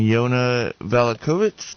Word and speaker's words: Yana Valachovic: guest today is an expert on home hardening yona valakovic do i have your name pronounced correctly correct correct alikovic got it um